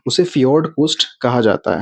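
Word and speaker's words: fjord: तट है उसका जो कोस्टल एरिया है उसको फियर्ड कोस्ट बोलते हैं। इसकी स्पेलिंग है एफ जे ओ आर डी फियोड coast.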